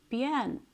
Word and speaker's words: Björn: You know Bjorn Ironside? Bjorn is because you don't know how to say his name in Norwegian. It's Björn or Björn, which means which means bear.